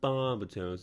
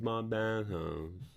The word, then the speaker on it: Barbatos: It's not Barbatos, it's Barbatos. Ugh.